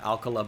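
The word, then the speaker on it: Alcalá: great change up from Alcala I really wish it was Alcala alkala bothers me but that's how they say it it's going to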